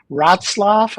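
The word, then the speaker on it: Wrocław: about a week in rotzlaff I think it's called I always have trouble pronouncing it it's pronounced nothing the way it's spelled at least no no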